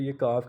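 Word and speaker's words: 육: फिर ये ईएंग है स्टार्ट में, ये फिर साइलेंट है, नीचे यू है और नीचे गियक है, तो ये लास्ट पे गियक आ रहा है तो ये काफ की आवाज़ देगा, तो ये युक बन गया।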